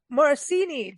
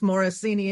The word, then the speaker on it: Morosini: before we started recording it's close enough my first name is the last name is morosini and they don't go